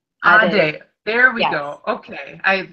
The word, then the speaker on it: Adey: But if you want me to tell you how it's pronounced, it's Adey. Adey.